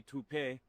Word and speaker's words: taupe: Say it right. That's t o p. That's taupe. Oh, it's taupe. That's taupe insurance.